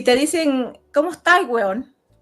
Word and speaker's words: huevón: Porque primero, si te dicen, ¿cómo está el hueón? Y tú sabes que el huevón, que nunca se pronuncia huevón, se pronuncia hueón, es un insulto, es